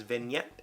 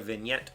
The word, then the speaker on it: vignette: Adding a vignette or two to a speech can help make abstract ideas clearer. Vignette. Vignette. It's kind of spelled like, it's like vinaigrette, but not.